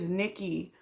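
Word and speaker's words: Niqi: time the whole time her name is Nikki and if you go to his channel and you watch her video Hearst name is spelled n i q-- i and her video i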